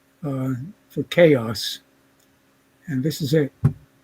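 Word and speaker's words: XaoS: refracto uh still is chaos with the x pronounced as in greek uh for chaos and this is it chaos and in this one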